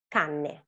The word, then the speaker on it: canne: Double consonants are very important because they differentiate words. For example, cane, canne. Cane is dog, canne is read. It's important how you pronounce them and it's important how you spell them because you can actually mean different words.